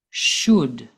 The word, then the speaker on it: should: they all use should we do not pronounce the L and the word should listen again should just like the other